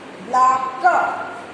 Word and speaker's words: black: C and k both sounds k. So you will just pronounce once. Black, blade, blade, blah, a,